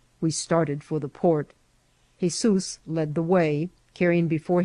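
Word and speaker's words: Jesús: shocked to hear that his name was Jesus pronounced in Spanish Jesus h e z o o s by which latter appalation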